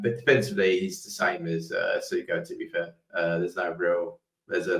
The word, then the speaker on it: Essugo: But he outperforms Essugo. Is that Essugo? Yeah, Essugo, I think it's pronounced.